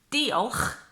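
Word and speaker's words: diolch: and then the last one is the word do huh which in Welsh means thank you it doesn't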